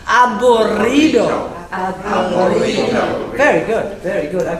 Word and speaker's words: aburrido: There are very few double letters in the Spanish language, but when they Sorry. When they are there, we want to hear them. So, it's aburrido aburrido aburrido.